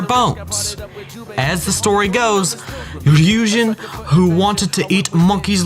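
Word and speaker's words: 龍神: But the problem is Shinto, where shrine maidens come from already have a deep sea god known as Ryujin. It's pronounced Yujin, the dragon god.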